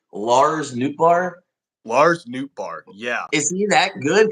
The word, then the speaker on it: Nootbaar: Lars Nootbaar, yeah.